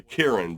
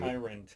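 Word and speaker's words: Kyren: I got uh your boy Kieran versus Tampa Bay. Kieran. Yeah. Yeah. Oh, yeah. Kieran Williams. Uhhuh. Also known as Kiran. Kairen to those who like to pronounce his name correctly.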